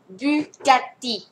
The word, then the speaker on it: Bugatti: ง ว่ า อึ น ะ ค ะ Bugatti Bugatti น ะ ค ะ Bugatti ดู ซิ